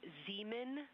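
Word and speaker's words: Zeman: We believe that that is Zemen Crater. Zemen. Okay. And can you say the first letter? I may be pronouncing that wrong.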